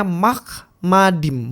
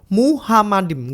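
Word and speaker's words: מחמדים: Jadi bacanya Mahmadim, bukan Muhammadim. Gak ada huruf he di sini.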